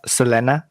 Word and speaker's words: Selena: we had selena um sorry it's actually pronounced selena thank you but you